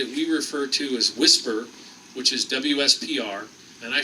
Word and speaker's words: WSPR: we refer to as whisper which is wspr and I forget the what the actual acronym stands for so I'll have to take a Buy on that but it's pronounced whisper and what whisper does